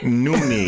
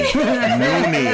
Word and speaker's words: Nonita: Maybe spell it out. It's Noonie. Noonie.